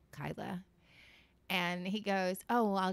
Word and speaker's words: Kyla: actually it's it's pronounced Kyla and he goes oh I'll just write it phonetically and he writes ky-la and I said so you agree it's pronounced the way that it's spelled and I can't like